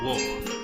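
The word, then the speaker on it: を: want to call it it's pronounced more like W is in water W so wo actually not W wo so how weird is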